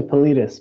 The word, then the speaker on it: Politis: It's actually Politis, but don't worry about it.